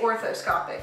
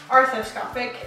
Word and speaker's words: arthroscopic: I got to see pictures of the, I always forget how to say it, arthroscopic? I think that's it. I always wanna say orthoscopic, but that's not correct. Arthroscopic and arthro.